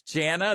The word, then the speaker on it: Jana: Her name is Jana. This is Jana. Thank you for coming on the show. Rhymes with banana.